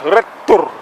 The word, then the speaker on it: Rettur: It is pronounced Rettur, RETTURI.IS. Rettur.